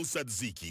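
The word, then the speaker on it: tzatziki: Hello saidziki sauce. We honor you with correct pronunciation.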